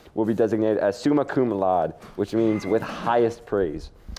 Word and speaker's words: cum laude: cum laude, and then there was cum laude. That's how you pronounce it.